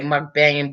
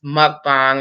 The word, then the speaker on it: mukbang: Some people say mukbanging, but the correct pronunciation is mukbang.